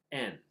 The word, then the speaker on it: 円: In Japanese, their currency is actually pronounced en, and that is the kanji right there.